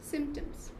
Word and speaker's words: Symptoms: The word P over there is silent. Right. Symptoms.